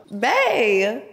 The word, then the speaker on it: Bae: what's your name ma'am yes oh like like like ba that's her real name Bae how you spell it b a e Bae ain't